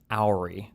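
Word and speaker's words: Houry: Her name is Ori. That's how you pronounce it.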